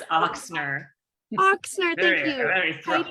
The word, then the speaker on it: Ochsner: And we also have Heidi, and I always pronounce her last name. Oh, it's Ochsner.